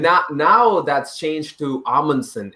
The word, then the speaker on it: Amundsen: so apparently like the the right way to say it is amundsen and the first way we started saying this was a munson this is a very